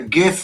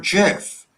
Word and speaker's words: GIF: It's a hard G.